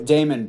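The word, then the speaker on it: Dameon: gonna start here and damien pierce out of florida oh damon pierce not damien damon pierce out of florida um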